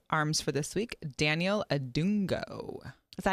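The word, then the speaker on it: Adongo: I have one of my arms for this week, Daniel Adungo.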